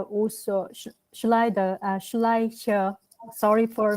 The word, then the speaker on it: Schleicher: Schneider also, Schleicher, sorry for mispronouncing, also kind of highlight the importance of early child development.